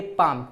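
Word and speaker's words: palm: पे इसे क्या पढ़ेंगे पाल में नहीं पढ़ेंगे इसे आप पढ़ेंगे पाम क्यों क्योंकि एम के पहले एल है तो एल साइलेंट हो गया इसे आपका पढ़ेंगे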